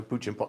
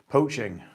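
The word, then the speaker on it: Pochin: Um Sarah Puchin. I can never pronounce her name. Poaching. That's it. Poaching. Even though it doesn't really look like poaching.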